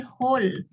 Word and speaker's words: whole: Bukan tapi whole. Whole wall. Wall. Oh. Whole bacanya. W-nya nggak Wall. dibaca. Whole. Whole. Wall. Bukan wall. Tapi whole. Oh, W-nya nggak dibaca.